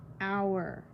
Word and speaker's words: hour: Hour. The H is silent, so you basically say hour.